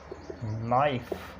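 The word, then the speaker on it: knife: में नो, नी, knob, नाइफ, इसी तरह नॉक, नॉलेज, इसी तरह नाइट और ये नीट, नॉट। ये एग्जांपल्स हैं। यानी एन से पहले के साइलेंट होता है।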